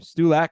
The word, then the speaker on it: Stulak: Ed, I hope I pronounced your last name. Stulak, is that correct? Perfect. Nailed it.